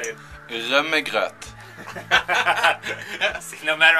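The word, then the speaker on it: rømmegrøt: Rumagrat.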